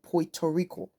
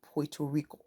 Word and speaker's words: Puerto Rico: language is there but I pronounce it because I heard it and like oh this is the proper way of pronouncing it Puerto Rico I can decide to